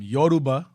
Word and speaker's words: Yoruba: Yoruba, Northern Kingdom fled into the area and so forth.